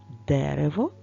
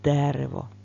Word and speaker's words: дерево: як допишеш повертайся в слові дерево наголос стоїть на першій букві г а от друга буква е була у нас під питанням правда Ми поміняли слово і наголос у нас тепер перейшов саме в другий склад до другої букви е дерева тож поставимо Що